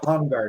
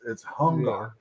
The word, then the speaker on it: Hungar: It is Hungar, not CRB or Bear the Forever DM or whatever. It's Hungar.